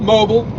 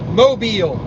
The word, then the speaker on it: Mobile: You can't even say it right, can you? Not mobile. Mobile.